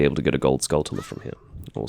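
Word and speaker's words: Gold Skulltula: to get a gold scullula from here or scaltula. I do try to use the chula pronunciation in the same way that I would say tarantula. So, skull chula.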